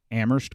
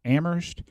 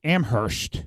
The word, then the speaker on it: Amherst: mass which is in amherst and they say amherst they pronounce the h no if you're local and you're from around here sorry you don't pronounce the age so now